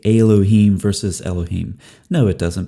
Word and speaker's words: Elohim: for the way Christian Prince pronounces a certain syllable. If you'll notice how Hijab says Elohim. Elohim.